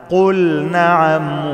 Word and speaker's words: قل نعم: قل نعم، لازم أنطق اللام كويس، وأظهرن لام فعل مطلقة، يعني أي لام فعل لازم أظهرها، ما قلش قل نعم. قل نعم يبقى أنا دخلت اللام في النون، لا أبينها كويس.